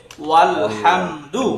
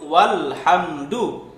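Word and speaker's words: والحمد: কিন্তু যদি কখনো এরকম হয় এই আলের শুরুতে এখানে ওয়াও চলে আসে, তখন আর এই হামজা উচ্চারণ হবে না, বলা হবে ওয়াল হামদু। হ্যাঁ, ওয়াল হামদু।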